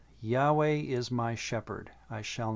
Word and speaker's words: Yahweh: now that when you see lord always just pronounce the name yahweh it just makes the reading of the text much better and more accurate because now words like or verses like psalm 23 1 will say yahweh is my shepherd i shall not want that's